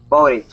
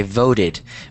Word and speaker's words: voted: Voted. Good. Okay. Voted. Make sure um that you that you emphasize um or you enunciate the ed because otherwise it's gonna sound like vote which is not the past tense.